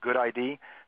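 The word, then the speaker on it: GUDID: Identifier database and so the GU D ID is pronounced good ID so if I mention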